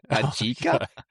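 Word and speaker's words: Ajike: I think it's Ayika. See, I thought that too, but I listened to it and then I phonetically wrote it down. Ajika. Because it's spelled AJIKA.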